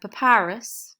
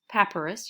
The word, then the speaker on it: papyrus: the nile river so papyrus pepperous you'll hear it pronounced both ways this is what they